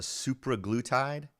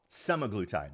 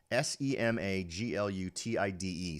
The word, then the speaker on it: semaglutide: It's a supraglutide or something like that.